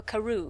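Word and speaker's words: Crewe: we are not sure there was a difference in the name madame pascal pronounced it as if it were karoo instead of crew but that might be merely a matter of pronunciation the circumstances were curiously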